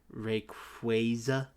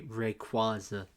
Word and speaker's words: Rayquaza: comparison but the Pokemon Rayquaza I say Rayquaza instead and I know it's wrong yeah the the Hoenn